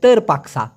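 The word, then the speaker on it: terpaksa: চান সেই ক্ষেত্রে হবে তেরা পাকসা পি এ কে এস এ উচ্চারণটা হবে তের উচ্চারণ করেন তো প্লিজ তের পাক সাতের পাকসা যদি তা না হয়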